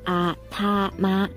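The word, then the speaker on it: 頭: 音不同，中国人读作头 t-o 头，日本人呢读作啊他妈。哎我没骂人哈，他们真的是这么读的。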